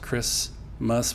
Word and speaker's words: Christmas: So K, and then the H is not pronounced as an H, it's just not there. Then an R, and then an I, and then S, and then the T is not really pronounced.